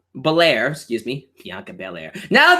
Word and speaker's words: Belair: that's gonna be awesome uh we see Bianca Bair Belair excuse me Bianca Bair now this is the